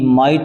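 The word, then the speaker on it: might: गया नाइट हो गया एम आई जी एच टी माइट हो गया इसमें भी जीच साइलेंट है एक एफ आई जी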